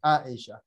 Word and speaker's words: Aisha: So the right pronunciation is actually the first one, Aisha.